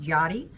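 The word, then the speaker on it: Yari: is uh Johnny G it's spelled y-a-r-i but it's pronounced Yadi and um she is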